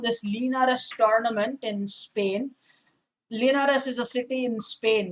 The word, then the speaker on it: Linares: some strong players participating the tournament each year linares is the pronunciation that's in spain and talking of spain